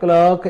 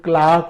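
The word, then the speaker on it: clerk: जैसे the teacher is teaching in his class, a क्लर्क is working. ये जो हालांकि वर्ड है इसका ब्रिटिश में प्रोनाउंसिएशन क्लार्क होता है और अमेरिकन में क्लर्क होता है।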